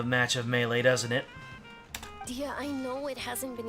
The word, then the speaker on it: Dehya: Okay, I thought I heard things, but her name is pronounced Dehya.